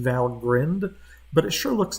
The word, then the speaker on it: Valgrind: another thing we can use another tool is val grind and it's supposedly from what i read online it's supposed to be pronounced valgrind but it sure looks like grind and it